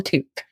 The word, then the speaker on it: toque: Never have enough, but it's called a toque. A toque? Toque. Like fool of a toque? Toque. It's spelled Toque.